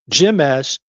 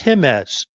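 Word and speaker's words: Jemez: He says, no, the J is pronounced with by the letter H. It's not Jimes, it's Himes.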